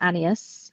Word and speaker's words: Agnes: In the movie, they pronounce it Anas. Anas.